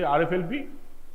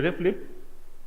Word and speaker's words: RFLP: like this gly lip RI lip rflp we pronounce it RI lip if you say rflp you are a nov in science a ref lip you are a graduate in science fine so